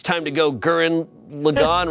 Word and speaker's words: Gurren Lagann: - Gurren Lagann. - Gurren Lagann. - Is that how you pronounce it? I've been saying Gurren Loggin all my life.